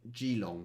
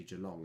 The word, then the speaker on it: Geelong: very difficult to pronounce trying to say g-long for ages and it's actually geelong and things like that